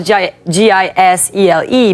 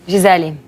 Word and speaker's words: Gisele: then you know my name in portuguese spell g I s e l e but how it pronounce correctly that giselli No.